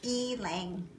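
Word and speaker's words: ylang-ylang: so yes so Elaine you laying and that's how Brenda says we're supposed to say e lang that was like why is like a long e is also one of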